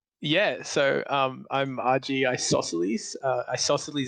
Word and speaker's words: Isosceles: Isosceles is like the triangle.